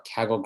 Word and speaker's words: Kaggle: Am I saying it right? Kaggle competition? Kaggle competition, yeah.